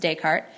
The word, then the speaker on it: Descartes: descarte rule of signs that's a french name it is pronounced descartes um so say we've